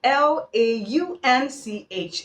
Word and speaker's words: launch: l u n c h is lant and l a u n c h is pronounced launch okay i hope you have the